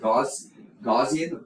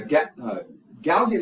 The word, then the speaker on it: Gaussian: All right, so let's look at Gaussian elimination, or some people pronounce it Gaussian, but Gaussian elimination.